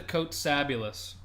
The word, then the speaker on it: Kotsabasakis: It's like fabulous, but Kots. A-B. Well, that's part of Fabulous. Oh, that's true. That is part of Fabulous. Yeah, it's Fabulous, but you take out the F and then you add the Kotsa.